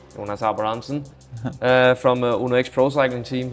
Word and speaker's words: Jonas Abrahamsen: Jonas Abrahamsen. Jonas Abrahamsen.